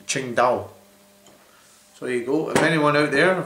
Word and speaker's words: Tsingtao: something completely different but I looked at how you pronounce it on the internet and it's pronounced Ching da so there you go